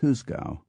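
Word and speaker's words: juzgado: g a d o which despite the spelling was pronounced more or less as husa sometimes it took a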